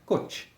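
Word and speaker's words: Kocs: uma cidade na Hungria chamada Côte que se pronuncia hot o segundo consta no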